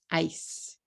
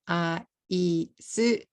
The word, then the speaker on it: ice: How many syllables do you hear in this word? Ice, ice, ice. One syllable, right? If I say this in katakana, aisu, I will have 3 syllables.